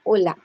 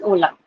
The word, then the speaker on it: Hola: So first we use " Hola " , I hope you know that , " Hola " . It is pronounced as " Hola " .